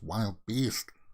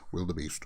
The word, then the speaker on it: Wildebeest: coasters from canada's wonderland the wildebeest some people mispronounce it as wild beast the wild beast but it's actually pronounced will the beast now uh guys i've never done anything like